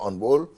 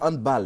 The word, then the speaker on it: handball: D'accord, Serge Dakouri, on a du mal à dire handball. Hein. Handball. Oui, handball. On peut dire handball. Ouais. C'est une prononciation. C'est plutôt allemand. Allemand. Non anglophone. Non. Voilà, c'est pas anglais. C'est pas anglais. Donc faut plutôt dire handball. Voilà.